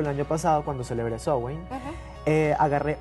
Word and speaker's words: Samhain: Se escribe Samhain, pero se pronuncia Samhain.